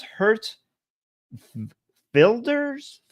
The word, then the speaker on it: Geert Wilders: Apparently, the G sounds like an H. Hurt, and the W is supposed to sound like an F and something between an F and a V. So it's Hurt Filders.